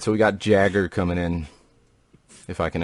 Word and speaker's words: Jagger: All right, Mick Jagger coming in.